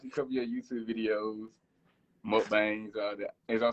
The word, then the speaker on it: mukbangs: I done watched a couple of your YouTube videos, mukbangs.